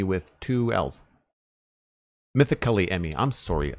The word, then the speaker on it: Mythically Emmy: Mythical Emmy with two L's. Mythically Emmy. I'm sorry. I've been mispronouncing that this entire stream. Mythically Emmy. It's a lot of syllables with the wrong emphasis.